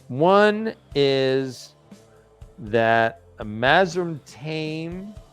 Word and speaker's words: Taim: One is that a Mazrim Taim, or Taim, I believe is the correct pronunciation.